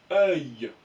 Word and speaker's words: œil: Œil. Le dernier, regardez. O-U-I-L. On coupe la syllabe en deux.